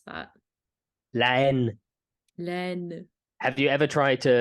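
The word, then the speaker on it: La Haine: Len or Lahane, as I like to call it. That's a Jew movie. I didn't know that's how you pronounce that. Len.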